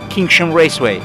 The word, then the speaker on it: Kinsham Raceway: Actually, how to pronounce correct this circuit? The name of the circuit is Kinsham Raceway go-kart track. Yeah. Kinsham Raceway.